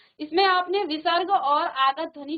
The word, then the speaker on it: विसर्ग: इसमें आपने विसर्ग और आगत ध्वनि के बारे में सीखा। तो विसर्ग आप जानते हैं, इसका उच्चारण आधा ह की तरह किया जाता है, और जैसे यहाँ पर अतः, प्रातः, स्वतः, प्रायः, सनेह, इस प्रकार से।